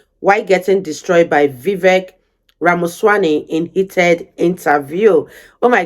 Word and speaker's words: Ramaswamy: Yeah, it's like Ramaswamy, like CD-ROM, but yeah.